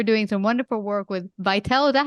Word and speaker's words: Vytal: inspirational today you're doing some wonderful work with vital is that how you say it yeah it